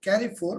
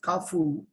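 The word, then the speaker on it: Carrefour: little store is called some people call it carry four but the correct pronunciation is kafu which is a french retailer so they started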